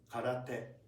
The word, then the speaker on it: karate: So ka, ke, and also this is not t. Or d. Karate.